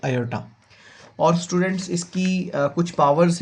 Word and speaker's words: iota: इसको इस तरह से इटैलिक फॉर्म में लिखा जाता है आई की फॉर्म में और इसके स्पेलिंग है IOTA। इसको बोला जाता है आयोटा।